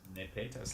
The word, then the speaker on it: nepetas: Nepetas, like pesetas. Okay, nepetas. Okay, Tom. Peasant. Peasant. Oh, I know how to spell that one. Okay, so nepetas. It sounds Spanish, like pesetas, George.